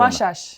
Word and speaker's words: Vasas: gittiğin takım vasas obuda Biz vasas diyoruz ama öyle mi okuyorlar on vaşa mı diyor S harfleri şe olarak okunuyor orada vaşa takımı Macaristan liginin